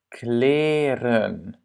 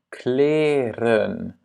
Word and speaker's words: kleren: Kleren. Ja? Kleren.